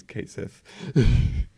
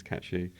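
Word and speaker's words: Cait Sith: because they think it's Kate Sith. But I've looked up the actual Irish pronunciation. It's Cat She, who's basically just like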